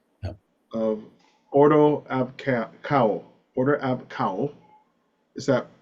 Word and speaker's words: Ordo Ab Chao: Of Ordo Ab Chao. Order Ab Chao. Is that the proper Greek Yeah.